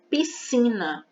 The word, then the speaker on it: piscina: Só que essas duas consoantes têm apenas um som. São duas consoantes, mas a gente escuta apenas um som. Piscina, piscina. É como se esse S não existisse na palavra, apenas o C.